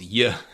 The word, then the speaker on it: j: It's pronounced like it's pronounced Y. And it is the same sound uh as what you make when you say the English word yet or yesterday.